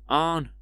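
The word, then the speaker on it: Ahn: I've spelt it with A-H-N, but like Arn, I don't know if I'm getting that across right with my accent, but Arn, like Arn, is like how they pronounce it, but that's like the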